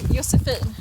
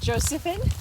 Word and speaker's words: Josefin: In Swedish we say Josefin. Josephine. Yes. And in English? English I guess is Josephine.